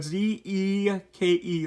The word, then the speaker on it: Zeke: context this is zeke this is zeke uh z-e-k-e that's how you say his name zeke um